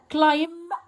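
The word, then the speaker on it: climb: كان يو، هنا معناها هل انت تقدر، هل تقدر انت كلايم تتسلق، خد بالك البي ما بنطقهاش، التري، هل تقدر تتسلق شجره؟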